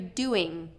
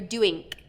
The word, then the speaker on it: doing: So a lot of times I'm hearing "What are you doingk? "What are you doingk? "Doingk?" Instead of "What are you doing?" Or "What are you doin'?" Doin', versus "What are you doing?" Okay, bring that tongue to the back, and touch the back of the throat instead of the front. Doin' is touching the front, doing, ing, is the back.